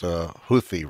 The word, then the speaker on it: Houthi: I believe it's pronounced Houthi rebels.